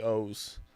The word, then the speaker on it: Oz: And on Oz the Mentalist? It's supposed to be O's. Oh, no, really? It's spelled Oz. He pronounces it O's.